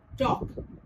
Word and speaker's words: talk: For example, if you see the word talk, L is followed by K, but L remains silent and we pronounce the word as talk.